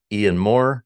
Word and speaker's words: Ian Maurer: guy too I'm thrilled to introduce to you Ian Moore CTO of genome oncology Ian thanks for being